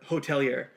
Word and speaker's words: Hotelier: year and it actually used to be the hotel year but apparently that made it too hard for them to like Google search so they actually changed it to hotelier so it's like h-o-t-e-l-i-e-r pronounced the same spelled differently and the album's called